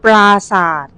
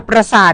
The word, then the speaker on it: ปราสาท: ปราสาท เหมือน กัน เดี๋ยว อย่า ออก เสียง สั้น ต้อง อำเภอ ปราสาท อย่า ปราสาท งี้ ไม่ ได้ นะ คะ แต่ คุณ พี่ เา